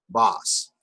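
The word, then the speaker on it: בת: circling with my cursor bet comets solve what is that word how do you say that boss very good and who remembers what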